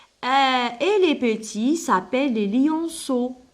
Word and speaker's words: lionceaux: Et les petits s'appellent les lionceaux. Alors, E-A-U, دايما نطقوها كيما الأو, lionceaux.